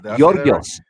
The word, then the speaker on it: Georgios: It's Georgios. Georgios.